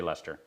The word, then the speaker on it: Leicester: you know something like that norwood i'd say lester lister i can't say it it rhymes with really really really you know things